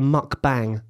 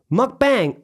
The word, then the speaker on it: mukbang: What is a mukbang?